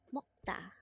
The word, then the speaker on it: 먹다: MEOKDA.